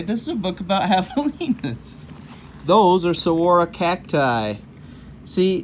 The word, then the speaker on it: javelinas: Javelinas. You see, we have the pronunciation again.